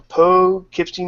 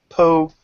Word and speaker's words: Poughkeepsie: is the man from Poughkeepsie, New York. See, I say it right, not unlike Sorg, who says like poo and yeah. I think this week he said Poe. He said something different than Poughkeepsie.